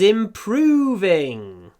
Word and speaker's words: improving: My English is improving. Так же, как в bony, у нас был звук в, который мы не видели. Здесь тоже есть. Improving. А этот в реально произносится перед звонким в.